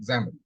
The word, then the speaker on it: XAML: XAML. It is because of it is camel, the word camel, it is pronounced XAML.